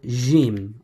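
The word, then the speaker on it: ج: Then we have the letter Jim, or the J sounding letter, which is this one with the dot underneath. Okay, so Jim, we've got Ja, Ji, and Jo.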